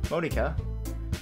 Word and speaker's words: Monika: Monika? If it's Japanese, it would be pronounced Monika, but I'm gonna say Monika because, Monika just sounds weird to me.